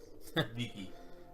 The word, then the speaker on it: vici: Viki. Okay. Yeah, I know it sounds dumb, but from what we can tell, the Latins actually pronounced C's with a K noise.